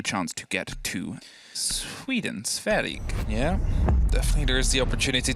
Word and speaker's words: Sverige: how do you say Sweden in Swedish? Is it Sverige? Sverige. Sverige. Yeah.